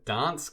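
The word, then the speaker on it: Gdańsk: We're going to play Arsenal in the final at the Energia Dansk. I think the G is silent in Poland.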